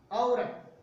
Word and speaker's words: औरत: इन्हीं के उच्चारण, जैसे एक शब्द आता है, हम अगर इसका उच्चारण करें औरत, जबकि उच्चारण इसका गलत है औरत, औ की ध्वनि आनी चाहिए औरत।